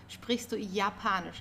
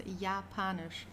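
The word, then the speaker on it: Japanisch: Don't forget the German yacht is pronounced as like the English Y. So yapanish. Okay. It's not Japan or something. It's yapanish.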